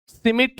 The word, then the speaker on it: Schmidt: चलो सिमिट reaction इसका नाम है सिमिट डी साइलेंट है इधर भी सिमिट रिएक्शन